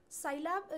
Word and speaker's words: Scilab: Scilab is pronounced as Sci, that is scientific, and Lab, laboratory.